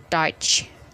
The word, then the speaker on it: Deutsch: dibaca melainkan oi contohnya dalam kata bahasa Jerman itu adalah deutz tulisannya Tapi bacanya touch Hai aha so that